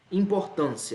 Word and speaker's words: importância: nosso gabarito tá bem importância importância a ser esse aqui é uma paroxítona porque a sílaba tônica é a penúltima e ao mesmo caso